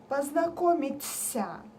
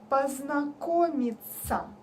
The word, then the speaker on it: познакомиться: Another mistake is the last word when people say ся, познакомиться. No. When we write ся or ся, we say it like ца, познакомиться.